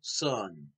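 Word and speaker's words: Sohn: that is directed by Peter Sun which is spelled s-o-h-n this is a Walt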